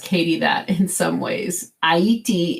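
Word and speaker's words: Ayiti: that in some ways aiti is the creole pronunciation for haiti the creole name a-y-i-t-i of course h-a-i-t-is how we say it in english and from dance i'll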